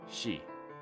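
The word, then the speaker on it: 四: in japanese is pronounced shi which is the same exact pronunciation as the word death it is believed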